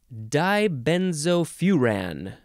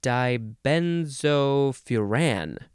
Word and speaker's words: dibenzofuran: now the next word dibenzofuran dibenzofuran d-i-b-e-n-z-o-f-u-r-a-n you can also say die benzophuran you can emphasize the last syllable this one is a